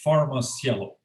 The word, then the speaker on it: PharmaCielo: mispronounce the name of the company could you pronounce it of course it's far most yellow okay yeah i was going to i was